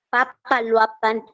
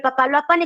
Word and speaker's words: Papaloapan: de México Bravo Lerma uzuma cinta nasas Grijalva Papaloapan Coatzacoalcos Coatzacoalcos Wow cuatro impresionantes Coatzacoalcos yo lo pronunció bien Coatzacoalcos Wow y Papaloapan Papaloapan Ah